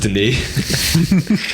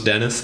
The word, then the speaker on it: Denis: director uh that is Denise and yes his name is pronounced Denise I may have been part of the camp that once thought it was Dennis but uh it says